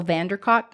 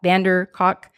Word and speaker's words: van der Kolk: some of your listeners, but it's by Bessel van der Kolk, K-O-L-K, Kolk, van der Kolk, Kolk. C-O-L-K. We'll spell it.